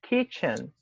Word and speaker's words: kitchen: A palavra que começa com K, que é kitchen, ela vai ter som de K no começo.